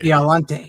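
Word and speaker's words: Biollante: Violante, yeah. So I always Godzilla mispronounce it.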